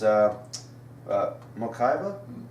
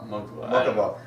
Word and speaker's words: Mokuba: And it turns out it's Mokaiba? Mokaiba? Mako? No, not Mokuba. Mokuba.